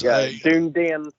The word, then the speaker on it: Dunedin: Well, so on our way up to Dunedin, which is spelled like Dun. Yeah. There's Dunedin.